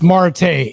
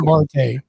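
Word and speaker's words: Martae: It's Marte. M A R T A E. Marte.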